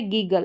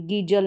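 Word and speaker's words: giggle: फिर यहां पर है गीगल। इसको भी गीगल पढ़ेंगे। गी जल नहीं पढ़ेंगे।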